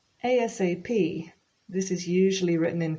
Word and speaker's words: ASAP: pronounce it like this a-s-a-p with each individual letter but it's also very